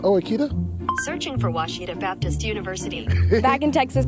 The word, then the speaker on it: Ouachita: oh Akita searching for Washita Baptist University back in Texas everybody pronounces it Wichita but really it's Washita Washita Washita how would